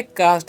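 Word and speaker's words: caste: अब सेम देखिए यहां पर भी सी एस टी ई है। तो इसे भी हम लोग क्या पढ़ेंगे? कास्ट ही पढ़ेंगे। क्योंकि यहां पर दो वोवेल्स है। ए भी वोवेल्स है और इ भी वोवेल्स है।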